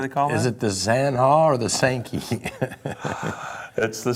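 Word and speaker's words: Zanja: i know it okay the mispronunciation of the zaha how do you get an s a k and a y out of the word spelled z-a-n-j-a well it's simply because you had farmers who didn't know any spanish at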